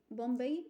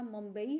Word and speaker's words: ممبئی: ہیں۔ کل بمبئی سے، بمبئی پرانا اس کا تلفظ ہے، موجودہ تلفظ اس شہر کا ممبئی ہے، اور یہ موجودہ